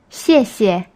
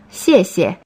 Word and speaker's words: 谢谢: X is pronounced like xi, as in the word she, but slightly different. Just practice repeating how I say it. 谢谢.